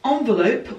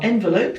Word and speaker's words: envelope: So this is the envelope, or envelope, depending on your pronunciation.